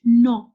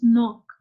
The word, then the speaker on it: knock: Just like you read in the previous page, knock. This is knock. How we call it? Knock. But we write it knock. But here K is silent.